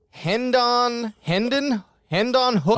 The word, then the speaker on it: Hendon Hooker: It's Hendon Hooker. Oh my God, AJ, that's like one of the easiest names to pronounce.